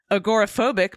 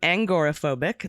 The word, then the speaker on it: agoraphobic: Agoraphobic became angoraphobic.